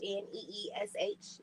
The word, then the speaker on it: Niche: Niche is spelled Neesh.